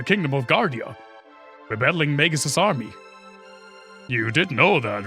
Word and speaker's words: Magus: A lot of people say mages. Like mage, but with an us behind. But I'm pretty sure it's Magus with a hard G.